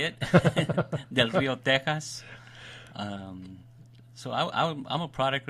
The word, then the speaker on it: Del Rio: And that's how you say it, Del Rio, Texas.